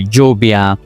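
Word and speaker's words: lluvia: Double L usually sounds like J for James. For example, Jubia. Jubia or Pojo. Pojo.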